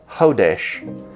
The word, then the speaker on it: chodesh: the hebrew word is hodesh we spell it in english s c-h-o-d-e-s-h but the c at the front is kind of silent so if you want